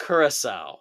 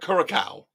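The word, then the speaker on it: Curaçao: Say it right, kids. Kurissau. Kurissau. Not Kuraca. Kurasowl.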